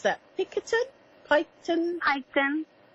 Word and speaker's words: Piketon: Ohio tiara tiara young hello and how to pronounce that picketed Piketon I Graham o Piketon right okay I've got